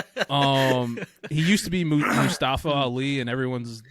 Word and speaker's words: Mustafa: uh mustafa ali and he pronounces it mustafa is that is that correct i'm curious islam it is it is supposed to be pronounced about mustafa yeah okay because he